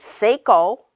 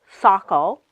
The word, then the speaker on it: Saco: of Wistar she might have said say coal instead of Saco so we were at